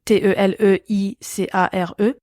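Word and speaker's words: TéléICARE: le site du TeleICAR, donc comme ça se prononce, TELEICARE, et ils y trouveront tous les produits complémentaires enregistrés après le 26 avril 2016.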